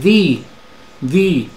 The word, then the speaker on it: the: inglés es da da da tiene dos pronunciaciones esto grab Ah quieres sonar más anglo pues usa usa la otra pronunciación usa the di okay Y te vas a